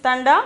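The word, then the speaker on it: ठंडा: then the 12th one tanda tanda pronunciation is thunder meaning is cold meaning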